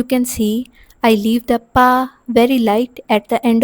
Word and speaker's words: 吧: Great, now let's look at the modal particle 吧 (ba). So the modal particle 吧 in this lesson is pronounced with a neutral tone at the end of a sentence.